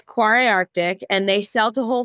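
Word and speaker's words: Kvarøy Arctic: quar Arctic quar Arctic it's spelled funny because it's an Arctic uh brand but it's KV r y uh so initially I was calling it uh cavoy and they were like no it's not how you say it uh but it's quar Arctic and they sell to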